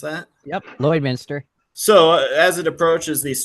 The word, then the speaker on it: Lloydminster: Is that how you pronounce that? Yep, Lloydminster.